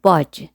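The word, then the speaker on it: budge: خوردن تکان جزئی خوردن بچه‌ها حواستون باشه دیش سایلنت دی رو تلفظ نکنید باج خب حالا چجوری میگیم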